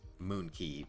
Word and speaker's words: Moon Quay: specifically in the the coast of the monkey Moon Quay whatever uh but quite is pronounced key so it's Moon Key monkey um so why am I doing five